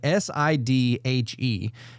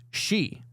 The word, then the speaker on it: Sidhe: So it looks like Sidhe, but so it looks like Sidhe, but it's pronounced she.